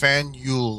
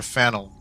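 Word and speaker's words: Faneuil: The name of this building is pronounced Fanule or Fannel.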